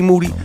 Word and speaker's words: Moody: Also got G Moody, last name rhymes with duty, and I'm going to go solo on that ass.